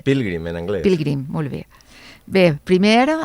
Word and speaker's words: Pilgrim: O Pilgrim, com ho pronunciem millor? Pilgrim, en anglès.